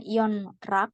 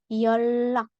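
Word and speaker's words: 연락: R jadi dibaca l contoh di sini bukan Yon rak atau yonlak tapi yolak cara bacanya yolak yolak artinya Eh kontak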